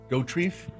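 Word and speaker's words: Dauterive: Dorrief.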